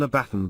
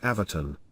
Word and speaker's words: abaton: I was shown a small triangular walled area, which the guide called an abaton but which is pronounced avaton.